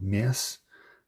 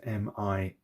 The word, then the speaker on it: Mierce: Are from a company, I'm going to try and pronounce this properly, called Mierce, which is M-I-E-R-C-E, so Mierce.